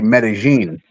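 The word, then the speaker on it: Medellín: And it and it's funny you say medalene cuz that's the way it's spelled over there. They say Medigene. Yeah, Medigene. Yeah, Medigene.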